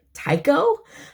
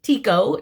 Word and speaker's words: Tycho: i think most people would call this fabric taiko um just from the phonetic spelling but it's actually pronounced tico just so you know i'm just a nerd